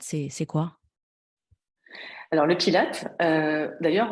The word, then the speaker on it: Pilates: c'est quoi alors le Pilate d'ailleurs on le dit en anglais normalement enfin avec la prononciation anglaise on va dire le pilatess ça vient de Joseph Pilate si je le dit en français euh qui